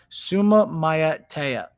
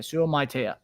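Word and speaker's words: Suamataia: Suma Matea. Okay. I appreciate that, Don. Appreciate that, buddy. Suma Matea. Okay, Sum Matea.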